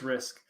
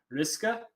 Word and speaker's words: Risk: my last name yeah it's just risk it's german so like i believe the i don't speak any german but i believe the like actual pronoun pronunciation is like riska but i go by risk and so does my whole family so risk is good i used to get risque a lot too i saw that in